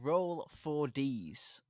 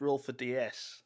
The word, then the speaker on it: Roll4DS: I'm sitting down with Kesbom from Roll 4Ds. Am I pronouncing that right? Roll 4Ds. Well, Mr. Frog of Flute, absolutely not. It's roll for DS.